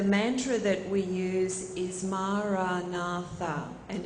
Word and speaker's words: Maranatha: And the mantra that we use is Maranatha, and it's an Aramaic word, which was the language of Jesus. And it simply means, "Come, Lord." So we also say it in 4 syllables, Maranatha, and it in time